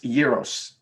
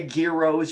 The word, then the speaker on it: gyros: o s euros yes euros euros you did not say gear OHS you don't say gyros yes often she is a very very soft G so much you're almost breathing it right exactly I get